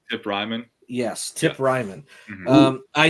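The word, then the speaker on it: Reiman: Ryman? Tip Ryman.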